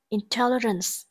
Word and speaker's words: intelligence: B, intelligence. Intelligence, từ này có trọng âm rơi vào âm tiết thứ hai.